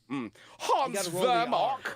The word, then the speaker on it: Vermach: Hans Vermach, the head of the safari. I think you're saying it right. You should Vermach. No, I think it's Hans Vermach. Hans Vermach.